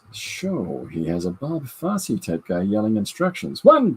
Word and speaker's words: Fosse: down in Broadway history Bob Fosse rhymes with Rod Rossi inside her Shield hey